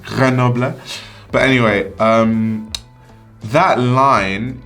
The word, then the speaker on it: Grenoble: think that's how guys say i normally say grenoble but i do know it's pronounced granoble but anyway um that line it's about performance